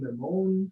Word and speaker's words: Mammone: Gaby Mammone or Mammone? Oh, not bad, not bad. So it depends if you want to use your hands and sound Italian. Okay. So it's mammone.